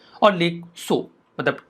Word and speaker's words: Tso: होता है, और लेक सो मतलब TSO यहाँ पे T साइलेंट होता है, तिब्बतियन लैंग्वेज के शब्द हैं।